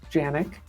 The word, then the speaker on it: Janiuk: my name is my last name is pronounced Yannick everyone gets it wrong um we probably uh pronounce it wrong ourselves because pretty sure it's like a polish name that would be pronounced very different in Poland but anyway uh yes